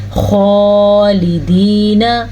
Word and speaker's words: خالدین: انہار اور یہ من تحتها الانہار خالدین فیہا. خالدین. خا کو پر پڑھنا ہے اور کھینچ کے پڑھنا ہے کیونکہ خا کے اوپر کھڑی زبر ہے.